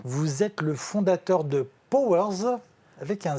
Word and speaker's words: PowerZ: Vous êtes le fondateur de Powers avec un Z. Powers avec un Z, et vous l'avez bien prononcé.